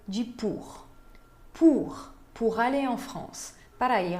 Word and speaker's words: France: Então, France termina com E, e esse E não se pronuncia. France. Vocês podem ver que o som termina no S.